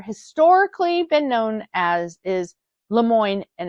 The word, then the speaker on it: LeMoyne: it has more historically been known as is Lemoine and it's spelled l e capital m o y n